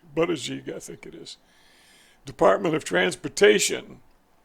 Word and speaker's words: Buttigieg: I never knew how to pronounce his name correctly. Buttigieg, I think it is.